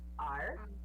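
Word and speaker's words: 二: Ar, que é 2. Ele é no quarto tom, no caso.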